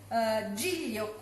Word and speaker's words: Giglio: the cookies college for the cookies cool is Giglio cooking Giulio is spelled g IG l io is the name